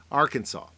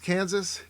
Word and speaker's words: Arkansas: the motto is uh it's not pronounced Kansas it's not our Kansas and uh the capital